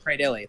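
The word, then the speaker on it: Cradily: Cradilly, thank you.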